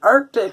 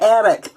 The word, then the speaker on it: Arctic: I said it right, Arctic instead of attic.